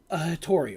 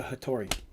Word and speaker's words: Hattori: The name is called a Hattori, or Hattori, depending on how you want to pronounce it. We've always called it a Hattori.